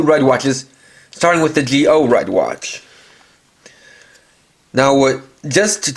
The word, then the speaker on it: Zi-O: geo and that's because that's how it's pronounced in japanese and the reason why